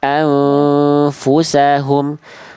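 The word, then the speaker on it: أنفسهم: Tapi jangan sampai mencederai bunyi hamzah sebelumnya. Jangan jadi kayak ain. A a jangan a a anfus e anfusahum. Coba bunda baca dulu yang saya garis bawah merah ini.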